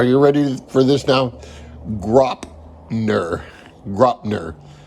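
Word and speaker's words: Graupner: in the days, so I learned the pronunciation. It's Gropner.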